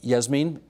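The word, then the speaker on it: Jasmin: And Yasmin, your name is spelled with a J, right, pronounced Yasmin, so I want to do that.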